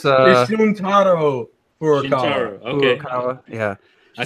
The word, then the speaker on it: Shuntaro Furukawa: Shiryuki Furukawa? No, it's you can. I'm close. It's Shuntaro Furukawa.